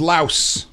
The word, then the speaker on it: Laos: it look like she was Laius it is Laos huh no more you know yeah one of